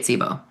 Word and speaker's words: Cboe: CBOE is how you spell it. You say it SIBO.